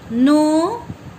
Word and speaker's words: know: No, show, snow. Here in this word no, K is silent. Okay, K is silent, so you say no.